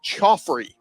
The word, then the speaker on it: Khafre: Now it's spelled Khafre, but everybody I've heard pronounce it is Khafre Brown.